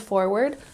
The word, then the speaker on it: forward: look forward to here we have the emphasis on the first syllable and forward look forward to and